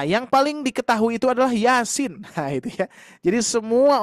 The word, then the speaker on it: Yasin: Kebanyakan yang membacanya 2 harokat dua-duanya ya. Yasin wal Qur'an gitu ya. Masih banyak yang membaca seperti itu. Padahal sinnya harus dibaca 6 harkat.